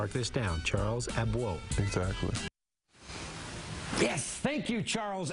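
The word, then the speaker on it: Abouo: Then it's time for Charles, don't call me Abuo. The correct pronunciation is actually Abwoe.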